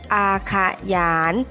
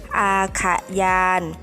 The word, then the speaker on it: อาขยาน: สวด เรื่อง หรือ นิทาน อาขยาน อ่าน ออก เสียง ได้ 2 อย่าง นะ คะ คือ อาขยาน หรือ อา ค่ะ ยาน ซึ่ง กระทรวง ศึกษาธิการ จะ